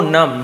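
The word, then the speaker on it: numb: The young man said, उस नवयुवक ने कहा, master your arm could go नम, नम यानी क्या, हम नम नहीं पढ़ेंगे, नम ऐसे पढ़ेंगे, बी साइलेंट होता है, नम यानी होता है सुन्न पड़ जाना, आपके हाथ सुन्न पड़ जाएंगे।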